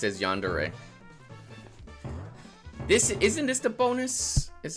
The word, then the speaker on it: Yandere: Okay, you pronounce it as Yandere.